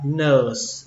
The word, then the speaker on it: nurse: Chữ tiếp theo, chữ này thì các bạn nhiều bạn biết chữ này, đọc là nurse. Âm ơ nó cũng hơi dài một chút. Nurse và kết thúc bằng âm sờ.